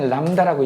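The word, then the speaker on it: λ: 웨이브랭스 영어로 그 다음에 이니셜로는 람다라고 씁니다 읽을 때 람다라고 읽어 그래서 파장을 남다라고 쓴다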